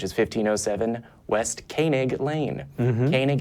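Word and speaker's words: Koenig: Kanig is not spelled phonetically because it's a German word.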